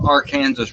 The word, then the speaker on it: Arkansas: pronounced our kansas yes the arkansas river is the ark kansas river until it's in oklahoma and then it's the arkansas right it's arkansas but